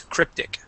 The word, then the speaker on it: cryptic: saying cryptic tree okay here this is going to be a short eye sound even though that is a y it carries a short eye sound the word is cryptic okay cryptic excellent now